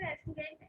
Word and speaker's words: restaurant: Incident was the first incident was to go into the restaurant and take What is the pronunciation of RESTAURANT? restaurant. Restaurant. Restaurant. पीछे वाला जो T है, that is not clearly audible.